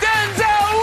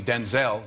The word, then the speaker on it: Denzel: It's Denzel Washington!